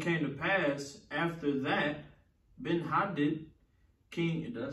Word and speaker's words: Ben-Hadad: And it came to pass after that, Ben-Hadad, king, did I say it right? Ben-Hadad.